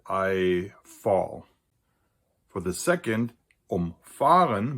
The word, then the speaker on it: umfahren: For the second, umfahren, where the stress is on the fa, which is not a